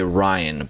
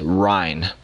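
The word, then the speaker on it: Ryne: I feel like every time I say his name, I say Ryan, but it's Ryan.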